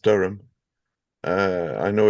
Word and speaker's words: Durham: uh but your map had Durham and it's pronounced Durham uh I know it's quite uh confusing because